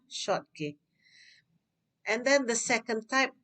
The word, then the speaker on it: Schottky: is called schottky defect remember this is um this spelling s-c-h-o-t-t-k-y the pronunciation is short k yeah short k and then the second